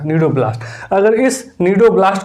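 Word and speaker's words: cnidoblast: type का cell है ये सी इसमें साइलेंट होगा नीडो ब्लास्ट अगर इस नीडो ब्लास्ट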